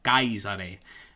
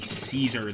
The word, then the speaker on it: Caesar: won them um and the truth is that's how you would say the name it would not be Caesar the way we say it today close it wouldn't exactly